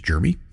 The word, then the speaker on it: Germie: It just sounds, you say his name is Jeremy, but it is.